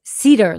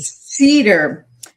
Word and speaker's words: Sieder: You did the one my last name is Cedar, like the tree. Cedar.